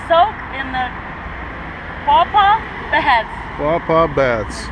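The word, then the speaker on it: Quapaw Baths: Pawpaw Baths. Yes, that's how you pronounce it.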